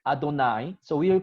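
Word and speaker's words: יהוה: And we are going to pronounce it Adonai.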